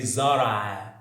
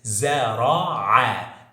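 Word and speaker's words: زرع: I said before A, this sound doesn't exist in English, and we have to get this sound from our deep throat, like it's A. It's not A, but most foreigners, they pronounce it like A. So they say Zara, Zara, but the correct is Zara'a, Zara'a.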